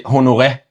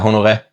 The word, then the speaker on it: Honoré: We just say Honoré. So Honoré. Yeah, Honoré. But with the H, Honoré. But Honoré, whatever people want to say.